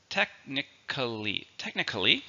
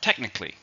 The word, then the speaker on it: technically: If you look here, you can also see, you could pronounce it with 4 syllables. You could say technically. Technically, or technically. So in other words, you could say it with 3 syllables or 4 syllables.